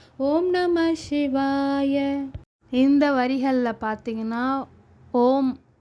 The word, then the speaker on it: ஓம்: நமசிவாய இந்த வரிகள்ல பார்த்தீங்கன்னா ஓம் அதாவது ஆம் அப்படின்னு சொல்லுவாங்க இல்லையா அந்த எழுத்துக்களோட மீனிங்க தான் வந்து இந்த இதுல நம்ம பார்க்க போறோம் அதாவது பார்த்தீங்கன்னா ஆம் அப்படித்தான் சொல்லணும் ஓம்னு நம்ம சொல்றோம் இல்லையா அதை அப்படித்தான் உச்சரிப்பாங்க சோ அதுல வந்து ஆ